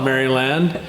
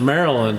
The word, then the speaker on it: Maryland: Paul reader from Maryland we don't call it merry land we pronounce it Maryland I don't know why it's spelled Maryland anyway